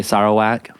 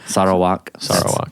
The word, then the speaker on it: Sarawak: right yeah yes sir Allah some people say sorrow wack let you sometime say is it okay sir a lot more than American we're saying it right sorrow walk Malaysian so what what about this time in